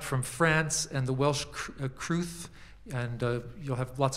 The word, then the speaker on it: crwth: instrument called the welsh crew or it was known as the crew in wales um kruth is spelled crwth naturally and i'm playing